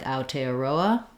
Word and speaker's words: Aotearoa: you're speaking english there we might say it more like aotearoa just because it'll be